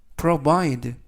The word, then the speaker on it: provide: 의미가 되겠습니다 이번 표현은 provide provide provide라고 발음하시면 되겠고요 이때 강세는 알파벳 i의 엑센트가 있습니다 그래서 provide라고 발음하시면 되겠고요